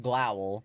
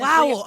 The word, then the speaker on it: Glowel: Okay, it's technically pronounced Glowl, but honestly, Glowel, okay.